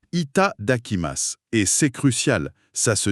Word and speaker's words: いただきます: Pour la prononciation, c'est quelque chose comme d'akima. C'est ça. C'est ça. Itaakimas.